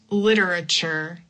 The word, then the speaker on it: literature: This is another example where I'm going to use the flap t. Literature. Literature. Also any word where you have the t u r e we say like chure. It's similar to the ch. Literature. Literature. It's like if you say the word church literature literature that's something that